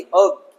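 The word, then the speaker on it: herb: अर्ब, हर्ब नहीं, अर्ब, जड़ी बूटी।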